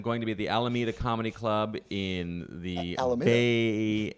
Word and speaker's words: Alameda: I am going to be at the Alameda Comedy Club in the Bay Area.